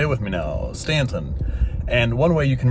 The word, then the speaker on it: Staunton: it with me now Stanton and one way you can remember this is Stan just think like standing up stand and on like onion stand on so stand ton that's all it is